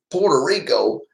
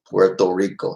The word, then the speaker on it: Puerto Rico: was P okay well like Puerto Rico which is like somebody to say poor Rico but the you sounds like an O so it's Phu Tho Rico Puerto Rico that's how you say it correctly so the city cuts